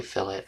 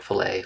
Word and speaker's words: fillet: edge here uh and that's what the uh fillet tool does I'm going to have to look